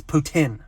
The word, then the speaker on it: poutine: just look on youtube hey youtube how do you pronounce poutine it's putin so for all you that needed to know putin we are looking at